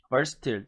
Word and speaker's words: versatile: versatile 또는 이거는 versatile이라고도 하고요. versatile이라고도 합니다. 발음이 두 가지예요.